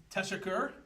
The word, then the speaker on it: teşekkür: Teşekkür Teşekkür. is thank you. We got that little squiggle under the S, makes it an SH sound, and the U, the double dots on the U, give it like a ooh.